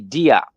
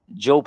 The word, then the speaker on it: Diop: Many people say Diop, but Job is how the name would be pronounced. That December 26th was the first, and as Job says, Osiris, but that's Asaru.